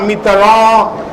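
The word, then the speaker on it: Mitterrand: जायब तऽ पराकाष्ठा अछि अब फ्रांसवा मितरॉन ओ जी MITTERANDT छै मितरॉन केना हेतै NDT कतऽ चलि गेलै ई सब रेस्टोरेंट छै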